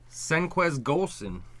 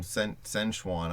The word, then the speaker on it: Senquez Golson: How do you say this name, Dash? Because you'll just make fun of me. Senquez Golson. I keep calling him Senchuan.